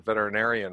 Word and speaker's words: veterinarian: And also, I want to give you a high five for pronouncing veterinarian right. So many people, it's really hard to pronounce right. There's six syllables.